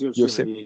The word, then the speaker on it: Yosemite: It's pronounced Yosemite.